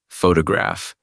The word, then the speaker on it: photograph: Think about the simple word photograph. In English, the stress falls on the first syllable ph to graph.